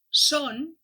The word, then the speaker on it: son: En el primer cas, son, és oberta i en el segon cas, són, és tancada.